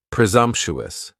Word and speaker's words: presumptuous: And the s almost sounds a little more like a z. Presumptuous.